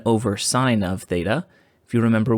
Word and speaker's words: sin: like the word sin remember it's pronounced sine but it looks like sin so it is a